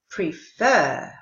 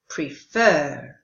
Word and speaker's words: prefer: rather teacher River Explorer prefer did you hear that all of the others were pronounced ha ha but the verb is her home with the stress on the second syllable prefer and of course if